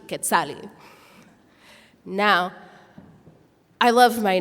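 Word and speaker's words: Quetzalli: give me the name of Kali let me spell that for you q u e t z a l l i k Kali now I love my name I really do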